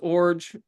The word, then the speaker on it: Iorg: The last name is pronounced Orge. That's the hardest part to figure out of all this, how to pronounce my last name. But yeah, the I silent, G like a J. So, Orge, I uh I was born in St.